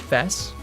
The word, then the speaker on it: FES: persona 3 FES yeah which I believe it's supposed to be pronounced fast now that I it supposed to from what I read on the wiki it comes from festival Oh so for a